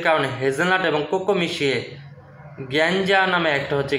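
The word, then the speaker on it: gianduja: হেজেট এবং কোকো মিশিয়ে গিয়াঞ্জা নামে একটা হচ্ছে গিয়াঞ্জা নামটা ইটালিয়ান ভাষায় এজন্য উচ্চারণটা মনে হবে গেঞ্জা হ্যা গিঞ্জা নামক হচ্ছে একটা পেস্ট তৈরি করে বা হচ্ছে কি বলে এটাকে ফোস্টিং তৈরি করে।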